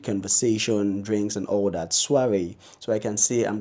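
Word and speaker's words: soirée: is SOI ar e it's a French word it's bananas soiree soiree Eswari is an evening party where people get together and it gets music and conversation drinks and all that soiree so I can see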